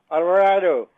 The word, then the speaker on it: Alvarado: Lisa oh incredible there we go I I pronounce surname myself Alvarado you do it better than me I did